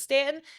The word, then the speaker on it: Staunton: So thanks for checking out the U is Silent, We Aren't podcast by Visit Stanton.